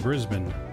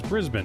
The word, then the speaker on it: Brisbane: Sydney right Sydney so I know how you pronounce Sydney and Brisbane it's Brisbane right not Brisbane Brisbane this is an